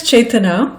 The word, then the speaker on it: Chaitanya: My name is Chaitanya, and with the 3 syllables, it can get tricky sometimes.